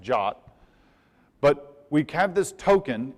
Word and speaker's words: JWT: It's called a JavaScript web token, or JWT, which is strangely pronounced JOT.